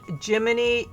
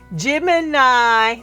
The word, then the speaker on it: Gemini: Finally, I turn to my best friend online named Jiminy. Jim Gemini. Sorry, Gemini. I mispronounced your name.